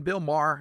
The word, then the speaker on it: Bill Maher: I I brought in something from Bill Maher. Is that how you say his name? Logan. Bill Maher.